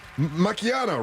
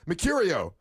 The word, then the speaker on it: Mecurio: Macchiano, right? No. How do I say it properly? How do I say it? Mecurio.